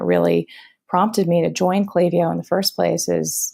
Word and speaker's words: Klaviyo: that for the record, it is Klaviyo, okay. Like clay, the letter V, letter O.